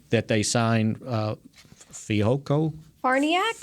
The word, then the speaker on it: Farniok: the the rookie that they signed uh fiocco farniak is how you say it farniak farniok matt farniok yeah so he's going to be